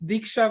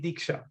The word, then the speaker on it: Diksha: Yeah, actually that's Diksha with a D as in Delhi, Diksha.